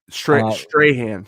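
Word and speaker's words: Strathairn: Strahan.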